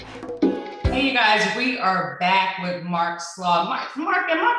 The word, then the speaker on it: Slaugh: We are back with Mark Slaugh. Mark, am I pronouncing your last name correctly?